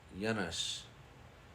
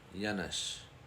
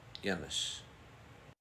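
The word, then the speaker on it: Yanush: here and it's pronounced yanes yanes I think I hear people say Yan but it's yanish and this means Buffalo yanish the next one is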